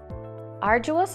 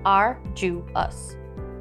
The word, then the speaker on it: arduous: arduous is an adjective arduous is spelled a-r-d-u-o-u-s arduous is pronounced are you us arduous means involving or